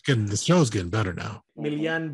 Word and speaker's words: Miljan: Miljan, but I go by Milan because in Serbo Croatian, most people can't pronounce yeah. So for the last 27 years, people know me as Milan, except if you're from the Balkans, so you can pronounce that L and J as yeah.